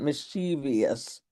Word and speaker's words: mischievous: But if you look at it on the screen, you'll see that it is spelled v o u s on the end, not v i o u s. So the word has three syllables. Mischievous, not mischievous.